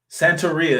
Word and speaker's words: Santeria: Santeria is how it's pronounced.